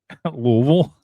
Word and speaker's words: Louisville: By the way, you relish the opportunity to pronounce that right. Louisville.